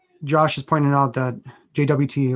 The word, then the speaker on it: JWT: has pointed out that jwt or sometimes pronounced jot is my go-to for api